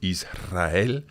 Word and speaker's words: Israel: So the rule is that when the R comes after one of those three letters, you have to pronounce it strong, vibrant. Okay, so Israel, honrar, enroscar, alrededor.